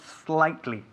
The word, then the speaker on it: slightly: La S, tenemos que enfatizar la S.